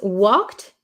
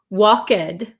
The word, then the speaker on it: walked: after a ck sound after a k sound the e d it sounds like a t t so we don't say walk walked right we say walked